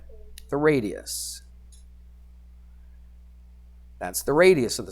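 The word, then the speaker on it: radii: mean it's plural right it's plural of radius okay and that's how you say it radi all right uh let's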